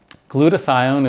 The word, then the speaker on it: glutathione: And then I've been taking glutathione.